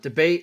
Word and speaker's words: D'Abate: All right, you guys can follow at Debate NFL. That's how you say it, correct? Absolutely. And I'm at Marcus_Mosher.